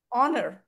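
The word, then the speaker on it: honour: இப்போ வந்து ஆனஸ்ட், அது ஹானஸ்ட்னு சொல்ல மாட்டோம். ஹெச் is silent. Honest, ஆனர்.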